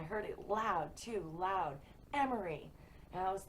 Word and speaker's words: Emery: I heard Emery. Emery. E-M-E-R-Y. Emery. And I know that's how it's spelled, even though I didn't see it.